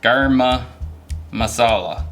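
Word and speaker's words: garam masala: I think it's actually pronounced garma masala.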